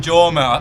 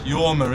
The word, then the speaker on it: Jorma: I keep saying Jorma. I do apologise, Jorma. It's Yorma, isn't it? Camilla had a go at me the other day. It's said Jorma, but I think it's Yorma how it's pronounced.